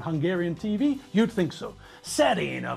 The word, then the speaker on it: Serena: stars just think people there's nothing difficult about the pronunciation of those two names Venus Serena no difficult sounds at all but still the commentators changed the names to Hungarian hybrids Michael J Fox drove